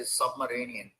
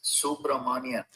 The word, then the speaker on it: Subramanian: I heard another reporter say Submarinian. Come on, you guys. It's Subramanian. Subramanian. Judge Subramanian. Thank you to Arun for Life, a hilarious comedian who pointed that out.